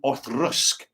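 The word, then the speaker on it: Auchroisk: And it's an Orthroisk, usually pronounced.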